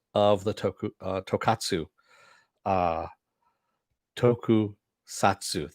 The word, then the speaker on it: tokusatsu: the toku tokatsu uh toku satsu there we go i've gotta actually pronounce it tokusatsu because otherwise i [